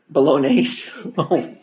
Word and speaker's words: Bolognese: Bolognese.